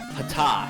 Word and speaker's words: Ptah: to the Egyptian creator god how do I pronounce that again? Ptah, yeah, the Egyptian creator god Ptah, who is known as the ruler of the sky and was symbolized by a bull.